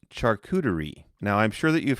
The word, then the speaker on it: charcuterie: like you pronounced it, a charcuterie. And you didn't know what that was. In all honesty, Taebyn, it's pronounced charcuterie.